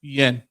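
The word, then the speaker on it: Guillén: So now we're gonna talk about Vanessa Gillian. How you say her name? Guillen.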